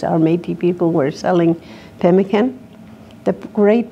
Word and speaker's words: pemmican: Our Métis people were selling pemmican. The great pronunciation is pemmican. That's the Cree way of pronouncing that, you know. And they learned that from their Aboriginal mothers, pemmican.